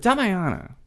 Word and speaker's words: Damiana: But Damiana, and that's the right pronunciation, right?